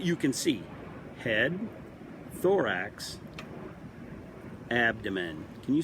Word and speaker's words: abdomen: it starts with ab you say ab ab is easy you can say ab then you can say abdomen here's how it's spelled ab dom men abdomen abdomen abdomen gotta learn how to